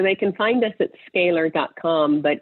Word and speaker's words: Scalyr: Neal and so they can find us that scalar comm but it's spelled oddly its SCA now why our comm scaler and they're welcome to contact us right on